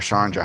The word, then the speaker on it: Chandra: Is it Chandra or Chandra? How do you pronounce it?